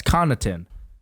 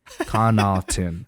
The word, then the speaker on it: Connaughton: A lot of Pat Connaughton or whatever his name is. Deep. What is his name? Connaughton. Yeah, it's Connaughton. But it's got a G in it. Connaughton. The W is silent.